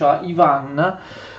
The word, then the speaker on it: Ivan: throne in Muscovy In reality we pronounce him Ivan but LinkedIn the Russian is pronounced Iwan Yann III and the son of the previous